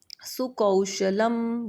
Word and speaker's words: सुकौशलम: वैसे ही जैसे आपको याद है मैंने आपको यहां पाठ पढ़ाते हुए जब इसका उच्चारण किया था तो मैंने यहां पे बोला था सुकौशलम।